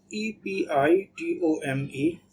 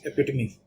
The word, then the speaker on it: epitome: next word is epitomy it's pronunciation is rather difficult because uh it spelling is e p i t o m e as you can see here and most of the people if they don't know already they will pronounce it epitome which will be uh in correct thing to do is epitomy and EP me means